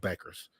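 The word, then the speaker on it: Bueckers: you know I can rattle off uh Paige Beckers and say Paige Beckers and say her name correctly not when you look at how she spells it it's buers but it's pronounced Beckers and then Juju Juju Watkins and then you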